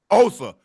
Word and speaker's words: Osa: Did I pronounce that right? Osa. Osa Yes, sir.